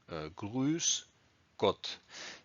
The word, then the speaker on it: Grüß Gott: So phrase number 6, Grüß Gott, pronounced Grüß Gott.